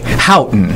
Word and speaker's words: Houghton: Houghton is how they say it.